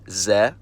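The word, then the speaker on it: З: It's found in every cerillic script using language, it's called Z, and it takes the sound of the English letter Z.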